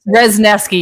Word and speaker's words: Rezneski: I want to say her name is Reznuski. Is that the right way? Rezneski. You're very close.